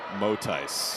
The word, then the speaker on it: Motais: And we asked Kylie before the game, hey, how do you say your name? And she said it's Motais. News to us.